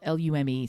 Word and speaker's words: Lume: deodorant which is the one that you see it's spelled l-u-m-e so it is pronounced lume because i hear him say it look i feel like an idiot saying it that way i'd rather call it loom but anyway their whole thing is that it's